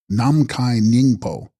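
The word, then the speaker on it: Nam-mkhahi-snying-po: rainbow Halo of light text Nam Mikan sing poo pronounced namai ningo Sanskrit Akasha Garba womb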